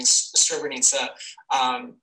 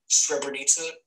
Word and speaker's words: Srebrenica: here at the Remembering Srebrenica organization. Did you notice how I switched the accent there? I pronounced Remembering and then Srebrenica.